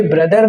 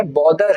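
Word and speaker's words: bother: अब ये ब्रदर नहीं है, बॉदर है, ठीक है।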